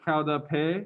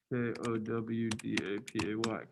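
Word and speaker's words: qaug dab peg: The way you pronounce this word is kaudape, if you're interested in that.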